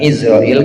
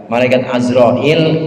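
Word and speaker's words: عزرائيل: lagi tinggal sedikit lagi bacanya pakai Ain bukan Izrail kalau udah di Indonesia Israil Tapi aslinya azrail itu artinya Abdul Jabbar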